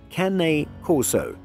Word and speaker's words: Cane Corso: pronounced but if you're going to own a Cane Corso please give your dog the proper pronunciation it's Kane Corso most people avoid having to explain the pronunciation